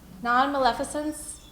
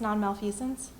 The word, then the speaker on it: nonmaleficence: Beneficence, non-maleficence. I've also heard it pronounced malfeasance, non-malfeasance. You guys heard that word? I had to ask the dictionary how to say it, as you can see here.